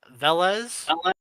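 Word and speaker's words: Veles: name GOP my name is so I don't mispronounce it uh velas uh v-e-l-e-s -l-e-s not a z and S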